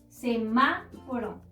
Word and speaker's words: semáforo: Semáforo. Semáforo, podemos encontrar la sílaba tónica en ma, es decir, la antepenúltima sílaba, y debemos acentuarla siempre. Semáforo.